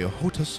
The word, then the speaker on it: HOTAS: You can use a joystick or a HOTAS, I think that's how you pronounce it, a HOTAS, H-O-T-A-S, that